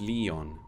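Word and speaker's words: Lion: Written as... it's pronounced Leon.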